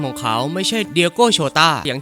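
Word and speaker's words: Jota: เป็น คำ ว่า โจเซ ใน ภาษา โปรตุเกส ตัว เจ ออก เสียง ว่า โชต้า และ นั่น คือ จุด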